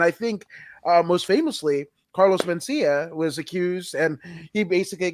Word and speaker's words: Mencia: I don't want to get the name wrong. No. It's Mencia.